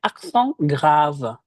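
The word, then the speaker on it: accent grave: Tanda bunyi yang kedua ada aksong grav. Aksong grav. Grav sendiri itu untuk bunyi yang lebih turun. Walah. Dan bedanya adalah kalau tadi aksong tegu e biasa e. Kalau aksong graf itu e. Walah. E, e-nya lebih ee terbuka.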